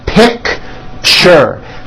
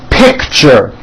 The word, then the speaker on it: picture: That's a tricky one. It's 2 syllables. You pronounce it picture, picture.